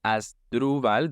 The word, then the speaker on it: Asdruval: So it's Asdruval. The main stress is on the second syllable, Asdruval.